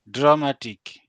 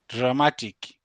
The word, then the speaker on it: dramatic: Dramatic. No, Dramatic.